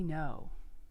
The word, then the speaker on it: Ngo: doing a book review on unmasked by andy noe have you heard of it it was a